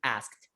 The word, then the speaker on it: asked: as kid my god i am going to to pay more attention to this pronunciation asked asked asked okay it's going to be like that i like it it's kind of a weird combination of sounds at the end of a word isn't it i think that's why nobody pronounces that extra that sound in there i'm pretty sure it's